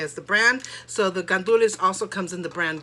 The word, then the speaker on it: gandules: add your rice and then i add the gandulas gandules is pigeon peas so you see it here